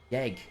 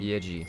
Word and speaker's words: Yeji: Yeg, who played it last in... Yeji. Yeji, okay. That would make a lot more sense in terms of pronunciation.